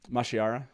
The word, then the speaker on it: mashiara: i don't even know how to say it mashira the lost love mashiara yeah yeah i i want a little bit